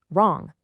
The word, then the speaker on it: wrong: If a written word starts with WR, that W is totally silent. Right, wrong, rap.